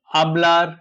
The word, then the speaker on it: hablar: We don't pronounce H and we pronounce V as soft B. Hablar and vivir.